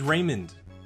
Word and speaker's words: Raymond: Jeff a none of that my name is Raymond re y mo and D which you would